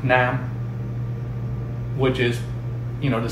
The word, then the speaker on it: năm: This makes the word pronounced faster. Nam, okay, versus nam. You see the difference, how like one word is stretched out, like leave versus live.